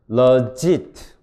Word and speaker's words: legit: legit. 그리고 이 발음이 롱바울입니다. 숏바울이가 아니고. 그래서 길게 발음을 해서 외워야 돼요.